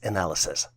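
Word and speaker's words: analyses: decisions the plural version for analysis is spelled as a n a l y s s and is pronounced as analysis you would have to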